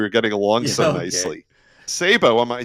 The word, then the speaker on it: Sebo: Sabo, am I saying your name right? Yeah, it's correct. Sebo. It's not Sebo, but Sebo. We pronounce Sebo.